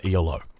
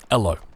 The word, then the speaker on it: Elo: it comes to matchmaking you are fighting over elo or ello as uh as as is as it should